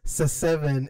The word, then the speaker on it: Se7en: pronounced seven in.